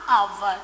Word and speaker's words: hour: See here, the letter H, that is one of the consonants. But that H is silent there.